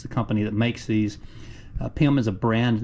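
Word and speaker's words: PEM: And these PIM studs, which is spelled capital P-E-M, is the company that makes these. PIM is a brand name, but it's kind of generic.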